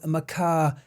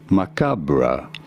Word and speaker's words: macabre: For my British viewers, that will be known to you as macabre. Macabre. Macabre. Distinction people couldn't seem to make on one of my previous videos. Apparently, I'm pronouncing it wrong. No, you Different countries pronounce things differently. The American pronunciation, however, is as macabre.